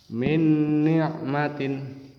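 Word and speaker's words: مِنْ نِعْمَةٍ: May yaquulu yang kedua Min nikmatin Min Nik matin juga ini harus dengung Min nikmatin selain nun mati sukun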